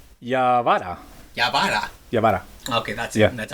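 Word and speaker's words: Yawara: Yabara. Okay, that's it. Yeah. That's how you pronounce it.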